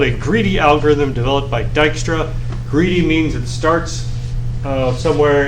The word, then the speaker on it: Dijkstra: in the ba yep that's spelled dijkstra don't ask me why there's a j uh let's see all right